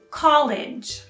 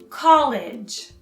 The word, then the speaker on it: college: which is very confusing you stress the first syllable and then with a soft g like the word age college college colleague is your co-worker